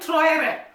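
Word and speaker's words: Traoré: I remember I was looking at the achievement of Ibrahim Traore. That is the right pronunciation.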